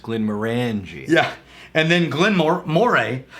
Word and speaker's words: Glenmorangie: 1918 took full ownership in the 30s it's pronounced Glenmorangie yeah and then Glenmore Moray was purchased by